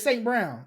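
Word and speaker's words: St. Brown: right name what's his name oh yeah it's St Brown it is St Brown yeah St Brown St Brown went off and then Reynolds is another guy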